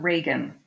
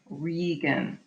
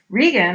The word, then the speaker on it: Regan: Not Reagan, Regan. That's the pronunciation of her name. Regan is also married to a duke.